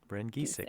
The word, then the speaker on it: Geisick: The Okay. geese are sick. Oh, there you go. Ren Geisick. Geisick.